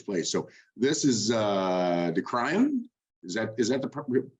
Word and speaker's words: Kraaien: So this is De Kraaien. Is that the pronunciation? Yeah, Kraaien.